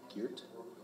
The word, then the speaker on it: Gheert: How do you pronounce it? Gheert? Yeah, that's Gheert.